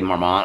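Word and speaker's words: Marmot: I don't know, but I would tell you right now, this brand, M-A-R-M-O-T, Marmont, I think is how you pronounce it, I would 100% go for it.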